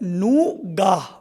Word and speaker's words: Noogaah: फिर ऑडियंस को समझ ही नहीं आएगा ना अगर हम कुछ और दे देंगे तो पहला स्विचवर्ड है नूगाह, जिसकी स्पेलिंग है NOOGAAH।